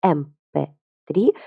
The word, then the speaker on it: MP3: артикль н потому что мы первые первую букву слова mp3 произносим как м.м.